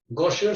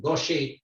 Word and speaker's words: Gaucher: it gaucher's disease but that's wrong because gosher suggests that it's a german name but this was described by a french physician gaucher pronounced gaucher and that's why it's gaucher's disease all of us know